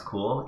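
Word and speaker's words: CeWL: tasks okay so overview cool pronounce cool is a custom wordless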